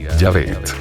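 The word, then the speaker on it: Yahvé: sin las vocales correspondientes en español el equivalente más apropiado sería yavet las Raíces hebreas de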